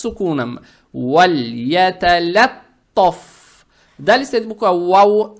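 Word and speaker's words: وليتلطف: Букву лам произносим мягко, и язык тут же не надо убирать, чтобы не было валаяталаттаф. Не валля, а валь. Вальяталаттаф.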